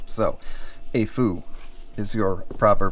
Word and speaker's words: Aful: performer 5 uh the brand is uh spelled AF UL L it's it's pronounced a Fu okay just so we stop calling it awful because there's absolutely nothing awful about it um